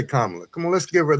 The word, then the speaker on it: Kamala: Let's say Kamala.